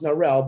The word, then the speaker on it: Narelle: First, Narelli, because I love her name is pronounced Narelle, but we call her Narelli because it's cute.